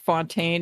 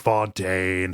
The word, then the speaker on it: Fontaine: before they added Frank Fontaine and then whatever the ending boss was like I I was real you pronounced that wrong it's Frank Fontaine okay yeah right right